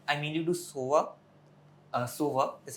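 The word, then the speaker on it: Sova: uh from valerent I mainly do SOA uh SOA is how you pronounce it and Omen okay they're more calm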